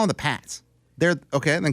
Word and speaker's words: Pats: you call them the Pates well do it you're going say say it right you can't be both p a TS Pats it's Pats it's spelled the Pats that's the Pates how do we get